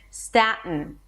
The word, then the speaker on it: Staten: Staten. Staten. Or staten. When I release it through the nose. Staten. Do whatever is easier for you.